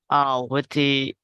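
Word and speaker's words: Witi: Kahu is the girl, but the word writer by Witty, like how to pronounce it? Witty.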